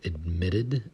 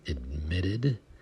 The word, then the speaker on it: admitted: a t like admitted we pronounce them more like D's because we like to change the T sound to a D sound oftentimes in American English words so admitted admitted admitted or in this